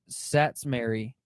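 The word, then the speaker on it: Szatmary: off what's his what's his name joey s-z-a-t-m-r-a-y sats mary spell that one more time slower s-c i'm sorry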